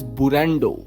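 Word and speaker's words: ブレンド: एंड इसको हम pronounce करते हैं एज बुरंडो।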